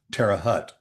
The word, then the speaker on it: Terre Haute: But it's it's real The pronunciation is Terre Haute.